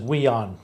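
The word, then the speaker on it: WIONN: immigrants our new neighbors w-i-o-n-n and i think they pronounce it we on okay and this has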